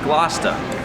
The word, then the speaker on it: Gloucester: Gloucester, which is naturally pronounced Gloucester.